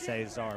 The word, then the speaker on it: Cesar: They tell us it is pronounced Cesar, but I won't hold it against the crowd.